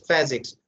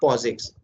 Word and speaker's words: POSIX: for Unix like operating system okay and its pronunciation is physics not posix fine so this program produce output a times